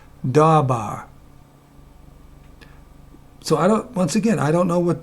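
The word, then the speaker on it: דָּבָר: Debar? I think not. Actually, this is how you pronounce it. Dabar.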